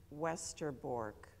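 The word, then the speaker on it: Westerbork: transit camp in Holland which is westerborg you would pronounce it westerborg and it was in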